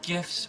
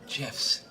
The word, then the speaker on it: GIF: internet are they called gifs or gifs well the G stands for graphics that's a hard G so I say GIF what the guy who invented it says it's GIF I'm sorry do you